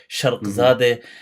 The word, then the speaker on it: Sharghzadeh: if you're not already following Sharghzadeh, he writes it as Sharg, but that's because of the accent. It's written, but it's pronounced Sharq as in the East. Sharghzadeh.